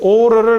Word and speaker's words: aura: 이 au는 o 발음이에요. 아우 발음이 아니고. 그래서 영어 발음으로 읽으면 aura가 아니고 aura입니다. aura.